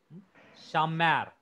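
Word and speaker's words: שָׁמַר: Last syllable is mar. So accents fall on the mar. Shamar.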